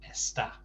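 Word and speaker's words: está: first syllable so esther but when it's the conjugation of a star it has to be at the end so it's an accent goes on there so it's esta spanish also use accents to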